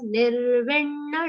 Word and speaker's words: Nirvinna: Nirvinna, double n sound there.